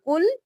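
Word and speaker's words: كُلّ: کی سپیلنگ کر لیجئے آپ نے کسی بھی مشدد حرف میں کسی ایک حرف کو بھی نہیں چھوڑنا ہر مشدد حرف 2 بار ادا کیا جائے گا کاف پیش لام کل لام زبر لا کل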